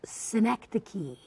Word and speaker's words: synecdoche: And synecdoche? That's not how it's pronounced. Synecdoche.